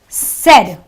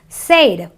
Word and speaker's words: said: you have another word said you don't say it say it you know non-english speakers sometimes pronounce this word as Sade it's not an a sound it is a sound so there's a set